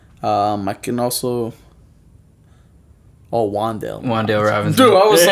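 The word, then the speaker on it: Wan'Dale: Wandale Robinson.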